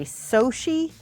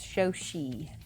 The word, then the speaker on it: Shoshie: on the first height very few people say my name correctly even a lot of people say Sochi or so or show see and that's wrong it's show she you know who never